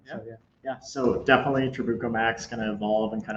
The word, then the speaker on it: Trabuco: another troubaco or chewbacc we got the official pronunciation guys trabuco in the pipeline and is the tongue going